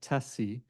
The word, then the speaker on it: TSCI: The Transportation for Safer Communities Initiative or TSCI as we're pronouncing it, TESSI, um has two primary goals.